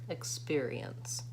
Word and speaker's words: experience: pair pair experience experience so that that e syllable is really like a tiny schwa in there I don't even really say it experience so I hope that